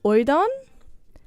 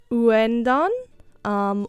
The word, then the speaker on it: Ouendan: Now, the last time I said this word, I think I said oidan. There is an N in the middle of that word. I think it's uendan, or I don't know how it's pronounced.